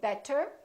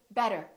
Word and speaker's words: better: T and another vowel this T changes and it becomes this fast D sound so we don't say better we say better better so it's not a really strong duh it's not better it's a real quick better better look again we